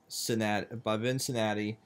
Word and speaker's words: Vincinati: My name is and today the park that we are looking at is called Fun Ticket by Vincinati, but it's not spelled like Cincinnati, it's spelled V-I-N-C-I-N-A-T-I.